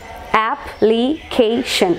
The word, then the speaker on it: application: Application. Application. Application. So, shen is the last syllable, final syllable. Penultimate syllable means the syllable that precedes the last one. So, stress will be marked over here.